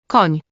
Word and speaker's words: Koń: If you've ever said canyon or onion, you've already made this sound. An example will be the word for horse, Koń, and the word for madam, pani.